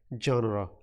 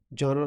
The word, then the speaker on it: genre: Okay, genre. Genre, look at the spelling. It is with R E, not with A, and the pronunciation is with A.